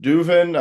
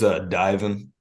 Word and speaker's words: Divin: Is it Duvin? I'm sorry. I forgot how to pronounce it again. It's Divin. Divin.